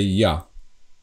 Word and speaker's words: ja: it's written differently, but we don't pronounce this J as J, like in English, but we always pronounce it as Y. So that's the difference. This is Y. So Y and A together, it's Ja.